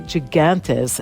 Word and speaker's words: gigantes: The most important Greek bean types are gigantes, and some of the best come from Prespes and Kastoria in the north of the country. These are the giant beans, aka gigantes, as they're pronounced in English, and they're great in hearty